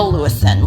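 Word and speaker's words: Lewisohn: her name is Laura lewison lewison spelled l e w i s o h n which seems like a bit of a convoluted way to spell that name but there you go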